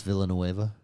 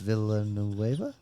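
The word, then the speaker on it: Villeneuve: Dennis Villain Noea. Is that how you pronounce it? Yeah, that's his villain Noea. Okay. V Noea. But I think it's when I was saying it first I was like Dennis Villoeva.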